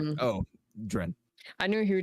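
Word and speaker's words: Dryn: Dren, yeah. Yes, Dread.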